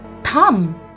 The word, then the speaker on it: thumb: call it it's your thumb in this word also the letter B remains silent we don't call it a thumb we call it a